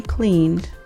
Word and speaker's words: cleaned: He cleaned the kitchen. Okay, next person is she. S-H-E. She. Clean. Cleaned. That's the pronunciation is d.